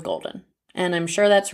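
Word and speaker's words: Goldyne: such an interesting name i'm not exactly sure how it's pronounced if it's golden golden or golden it's g-o-l-d-y-n-e i'm going with golden and i'm sure that's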